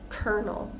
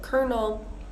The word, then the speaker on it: colonel: in English I believe kernel we pronounce it pretty much the same as a corn kernel right a kernel of